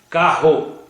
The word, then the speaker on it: carro: seu som orientações básicas existe diferença na pronúncia entre palavras com um r 2 é por exemplo com é caro com dois erres carro como é ter a com dois erres terra se lá mas com um